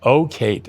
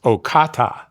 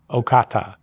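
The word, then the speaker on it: Ocate: a little town spelled O, I called it Okate, O C A T E, but I had the feeling that wasn't the right way to pronounce it.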